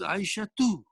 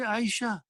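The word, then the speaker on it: عائشة: Just like, if your name is Aisha, it is Aisha too. It is Aisha too. But why do you say Aisha? Because you stopped, you don't pronounce the last letter in the name.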